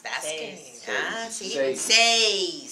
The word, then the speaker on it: seis: That's Seis. good. Ah, see? Seis. 6. 6. Say a Z sound on the end. No? Yes. Yes, Seis. that is S. Says.